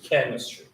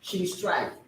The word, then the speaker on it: chemistry: Chemistry. I remember the first time I see that word, I pronounced it chemistry. Oh, you sounded wonderful. First. The pronunciation is chemistry, everybody.